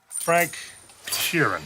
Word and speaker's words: Frank Sheeran: Frank Sheeran.